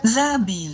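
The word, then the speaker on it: Za'abeel: One and only one Zabil or Zabel. Zabel or Zabil. Let's see. Um, Zabil Zabil. So, in Arabic, it's pronounced Zabil.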